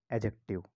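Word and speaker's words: adjective: हम लिखते हैं एडजेक्टिव लेकिन यहां पर डी साइलेंट होता है और इसको प्रोनाउंस कैसे करते हैं एडजेक्टिव एडजेक्टिव के बाद डायरेक्ट हम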